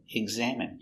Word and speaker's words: examine: He ggg egg egg z eggs a exact m exam exam I examine examine examine stress on the second syllable examine examine Examine.